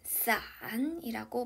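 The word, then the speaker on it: 伞: 연인끼리 잘 선물하지 않습니다 그리고 우산은 싸안이라고 발음하는데요 헤어지다 흩어지다라는 의미의 sun과 발음이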